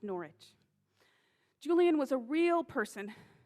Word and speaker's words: Norwich: writings of the medieval mystic julian of norwich pronounced norwich julian was a real person who lived in